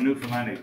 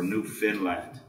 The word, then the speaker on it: Newfoundland: Now, a scoff is a dance, and a Newfoundlandic blue star is a beer, and it's pronounced Newfoundland, not Newfoundland or Newfinland.